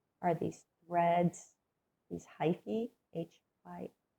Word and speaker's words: hyphae: So our basic structure are these threads, these hyphae, H-Y-P-H-A-E. Sometimes you'll see that pronounced hyphae or hyphae, depending on if you're pronouncing it like Latin or American English.